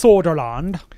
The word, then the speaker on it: Söderlund: Part of their statement says, and this is coming from Patrick Söderlund. Which is probably pronounced differently. It's Soderland. But he says, quote, "Our Visceral Studio has been developing an action-adventure title set in the Star Wars universe."